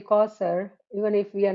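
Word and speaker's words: كوثر: to comment on that, the way it is spelled with the sound of sa, which is not s actually. In Arabic, in Urdu, sa, there's a different level of tha, and it is this one is tha.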